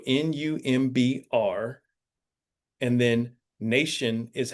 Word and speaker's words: Numbr: Okay, and it's spelled Numbr. There's no E, U. So Numbr, and then Nation is how you spell the Instagram handle.